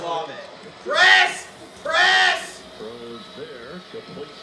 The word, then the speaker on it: Olave: She just called Olave Ovele. Some really special throws. Maybe I'm wrong, but I don't like that stuff. No, it's Olave.